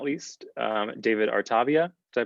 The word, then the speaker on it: Artavia: And last but certainly not least, David Artavia. Did I pronounce that correct? I didn't do a pre-screening. Artavia, it's fine.